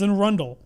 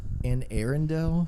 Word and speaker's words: Anne Arundel: Like that's what it's called, but it's called Anne Arundel. No, it's an Arundel. Like I was calling it Anne Arundel.